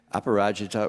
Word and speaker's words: Aparajita: Aparajita, she just told me how I should pronounce her name. Aparajita Rao, and she also told me, Pari, by the way, she goes by Pari.